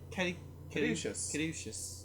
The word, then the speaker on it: Caduceus: I remember us trying to like sit there and pronounce that. Caduceus.